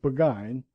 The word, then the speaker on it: Burgoyne: Nutting had a famous foxhound named Burgoyne. He pronounced it Buggine, which my informant used to borrow.